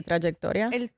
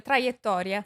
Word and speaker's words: traiettoria: How do you say trajectory? Trajectoria? Sì, la traiettoria.